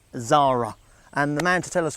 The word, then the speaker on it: Xsara: new midsize family hatchback the Zara spelt XS A R A that's how it's spelled but you say it Zara and man to tell